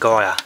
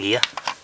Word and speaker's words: Gyr: The GYR is actually pronounced Gia. I found out that's the correct pronunciation of the name. Lannis and Gia, not Landis and gear.